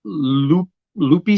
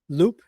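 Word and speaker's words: Loup: Lupe City. Have you ever heard of that place in Nebraska? I heard of Loop City, Nebraska. Loop. How do you pronounce it? Loop. That's Loop. how I was Okay. always pronounced it.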